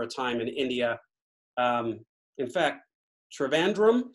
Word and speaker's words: Trivandrum: time India in fact Trivandrum said were you and i pronouncing that right you are Trivandrum is the the british way now if you want to real get ethnic it's theater van dumper oh i won't i